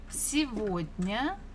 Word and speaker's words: сегодня: And we're going to answer with сегодня, сегодня. You're not mistaken. The third letter is G, but this is a special word, so we can pronounce this G as V.